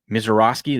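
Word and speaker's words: Misiorowski: Mizorowski.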